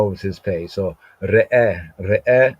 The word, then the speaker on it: ראה: So re'eh, I was saying that's re'eh, but then there's sometimes, in spoken, there's a glide.